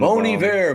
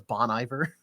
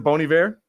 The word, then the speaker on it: Bon Iver: say Bon ior but Bon sounds like fancy in French bon bon bon yeah I'm right don't